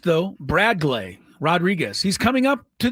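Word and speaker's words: Bradgley: B R A D G L E Y pronounced though Bradlay Rodriguez.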